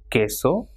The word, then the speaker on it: queso: Same way, this ka sound is pronounced with que, that is queso, and qui, that is quien.